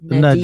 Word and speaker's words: Na'Diah: saying your name wrong? It's Nadia. Nadia.